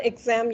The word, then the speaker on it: exam: Cái chữ này mình phát âm là exam nhưng cái chữ exam. X này, exam phát âm là âm Z. Exam.